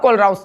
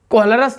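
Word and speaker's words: Kohlrausch: अब कोलराउस लॉ, कोहलरस लॉ, कोलराउस लॉ, कुछ भी बोलो, प्रोनाउंसिएशन अलग है, स्पेलिंग देखोगे तो एक ही है।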